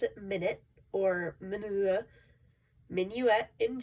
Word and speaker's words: Minuet: I'm hearing a lot of people pronounce it Minuet or Minuet. Minuet in G. Minuet is a French term.